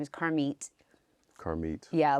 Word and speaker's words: Carmit: is karmit karmit yeah a lot of people say karma because it's spelled like that but it's it's a hebrew name so it you know it looks like karmic but it's car meat so even when we